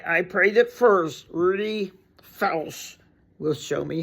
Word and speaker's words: Felsh: Felsh. Felsh. Not Felsh. Felsh. Rhymes with belch.